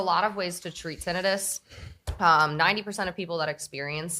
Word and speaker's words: tinnitus: Most people say tinnitus, but fun fact, itis means inflammation, and tinnitus is not inflammation. So Yeah, that's science. technically, tinnitus.